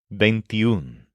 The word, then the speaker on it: veintiún: before a masculine noun, it drops the o. For example, we don't say uno chico. We say un chico. The same thing happens with veintiuno. To say 21 boys, you say veintiún chicos. This is spelled with no o at the end and with an accent mark over the letter u.